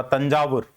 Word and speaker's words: तंजावुर: उस समय का नाम इसका प्रोनंसिएशन जो है उच्चारण जो था वह था तंजावुर तंजावुर जो है इनका राजधानी